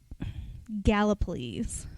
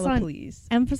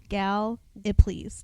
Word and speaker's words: Gallipolis: you just told me, which is emphasis Gallipolis. On the first syllable. Emphasis on the first syllable. Gal-i-please. Just think like, please, can I have some more?